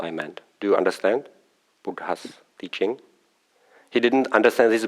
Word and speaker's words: Buddha: Do you understand Buddha's teaching? He didn't understand this Buddha's, but because American pronunciation, I think, is Buddha, something like that. And I pronounce it as it is standard in Sri Lanka, Buddha.